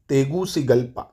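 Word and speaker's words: Tegucigalpa: हरस कंट्री आता है इसकी राजधानी क्या है तेगू सी गल्पा तेगू सी गल्पा क्या है भाई स्पेलिंग लिख देता हूं टी ई जी यू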